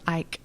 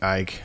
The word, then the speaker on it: Icke: Some people do pronounce it Ike. So. Ike.